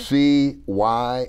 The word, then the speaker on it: Cy: It's a two syllable word. Okay. C Y is supposed to be pronounced Cy.